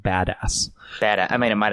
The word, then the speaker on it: Biadasz: Number 23, Tyler Biadasz, the offensive center from Wisconsin. I think it's pronounced badass.